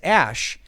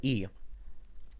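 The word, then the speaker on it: Æ: than a name, but the character E is apparently said as Ash. Well, I looked up on Wikipedia. I've never heard it pronounced that way, and they say it's most typically pronounced as E, or EE or something.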